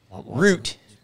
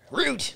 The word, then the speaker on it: Root: when I say it root root like boot yes what's your name